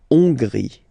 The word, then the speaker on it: Hongrie: So remember, H doesn't exist, so you don't pronounce it. So it starts with O-N, on, and then gris. Final E, not pronounced. La Hongrie.